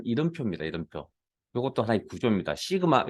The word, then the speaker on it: 시그마: 시그마, 요거 시그마라고 읽을게요.